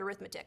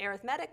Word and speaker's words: arithmetic: good arithmetic now it looks like the word arithmetic so if you say that that's totally fine I know what you mean but typically we pronounce it arithmetic when we're dealing with sequences okay just so